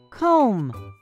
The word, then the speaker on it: comb: letter you bet that word has a silent b it is the word comb one more don't